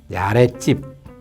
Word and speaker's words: 아랫집: 발음으로 인정이 된 거예요 그래서 우리가 이제 아래 쭉 같은 경우는 아래 찝 이렇게 보통 발음 하기도 하고 아랫집 뒤 그때 가드